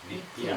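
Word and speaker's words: नित्य: this half letter coming which indicates when you pronounce it you have to just pronounce it with the tip of your tongue nity say nita nitya nitya see the tip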